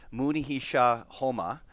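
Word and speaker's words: Munehisa Homma: trader this Mooney he shot so I'm gonna pronounce it properly here after a couple beers Mooney he Shaw Houma he's one of the first and one of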